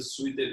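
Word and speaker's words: Zwitterion: Eh, así se escribe Z W I T T E R I O N. Esta es una palabra alemana. Ahora, si ustedes escriben suerter y nunca la he escrito en español, es como suéter.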